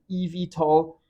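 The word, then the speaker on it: eVTOL: In the US people pronounce it EV tall which I get the ring to it. It it sounds a bit like an EV vehicle, EV tall.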